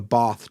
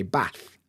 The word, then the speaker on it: bath: short a sound like in the North we'll say bath and trap they have the same sound but in the South they'll say bath and trap they' got a long a sound this is a Vowel